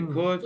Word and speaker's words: could: The L is silent. You don't say anything. You don't say the L. You say could, should.